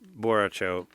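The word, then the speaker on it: Borracho: That's that's the drunk guy from Mortal Kombat for people who don't know because Bo Raicho is Boracho. It's basically Spanish for drunk is what it means.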